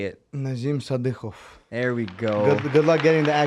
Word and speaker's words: Nazim Sadykhov: Nazim Sadykhov.